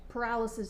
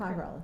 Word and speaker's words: pyrolysis: Just for clarification, that paralysis, the mention of paralysis is, did I say it wrong? You said it Pyrolysis.